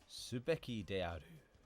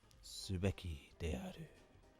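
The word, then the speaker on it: すべきである: Then, can you remember the pronunciation of this one? It means should. This one is subeki de aru. Subeki de aru.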